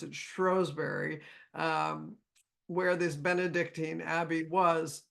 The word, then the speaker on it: Shrewsbury: She lived in Shrewsbury, or as they pronounce it, Shrewsbury, where this Benedictine abbey was up until the time, of course, of Henry VIII, when all the abbeys went away.